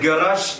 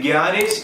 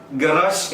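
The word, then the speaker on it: garage: ഉച്ചാരണം തെറ്റാണ്. അത് ഗറാഷ് എന്നാണ്. എങ്ങനെയാണ് ഉച്ചരിക്കുന്നത്? അതിന്റെ ഉച്ചാരണം പലർക്കും അറിയില്ല. അത് ഗ്യാരേജ് എന്നല്ല, മറിച്ച് ഗറാഷ് എന്നാണ് ഉച്ചരിക്കേണ്ടത്.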